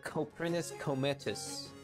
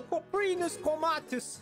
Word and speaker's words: Coprinus comatus: The Coprinus comatus. I butchered that. Hold on, let me try again. The Coprinus comatus!